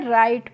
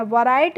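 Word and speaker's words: write: राइट पढ़ते हैं। वैराइट नहीं पढ़ते हैं क्योंकि जब भी किसी वर्ड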